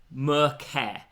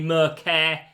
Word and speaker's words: Merceh: It's simply Merceh. I think it's pronounced that way.